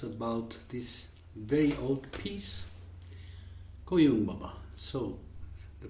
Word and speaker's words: Koyun Baba: We are here today to discuss about this very old piece, Koyun Baba. So, the pronunciation is Koyun Baba with the accent of Koyun Baba, and not Koyun Baba.